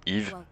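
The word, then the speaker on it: Eve: incarnerez EV ou Yve donc e ve hein mais se prononce Yve membre du 7e escadron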